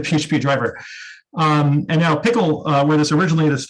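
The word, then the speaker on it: PECL: repository uh called p-e-c-l which i've always pronounced as peckle apparently it's pronounced pickle and this is basically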